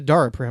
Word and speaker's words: Daraprim: It's one of the Daraprim, I think is how you say it.